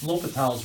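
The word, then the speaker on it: L'Hôpital: And then the last one to finish is L'Hopital's rule. This is the most advanced case that you need to know. Usually pronounce that L'Hopital, okay, and I'll just abbreviate this as LHR, okay.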